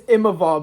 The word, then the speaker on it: Imavov: And it's Imavov, by the way.